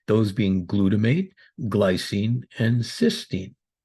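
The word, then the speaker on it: cystine: In this discussion, we'll look at the most popular ways: oral glutathione, cysteine, cysteine. Please note the difference in both spelling and pronunciation.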